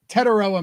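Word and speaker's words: Tetairoa: Well, you could go Tet McMillan, but apparently he doesn't like that. Teteroa McMillan. It's okay. For once, it's as it sounds or as it's spelled.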